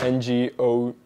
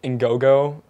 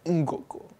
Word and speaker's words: Ngogo: It's sort of interesting because I could never pronounce it right. I said Ngogo before I showed up, and the grad student I worked with, he was like, Ngogo. And you have to say it like this, Ngogo.